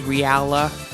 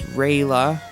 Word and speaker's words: Reala: Basically one player is knight obviously and the other is reala who used to pronounce raila.